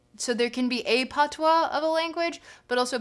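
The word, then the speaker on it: patois: Uh, it's spelled P O. Wait, P A T O I S. PWA.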